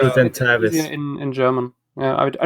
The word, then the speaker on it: Oculudentavis: Maybe it's Oculudentavis. easier in German. Yeah, I know. I usually I remembered this because Ukulu sounds a little like Cthulhu, and Dentavis.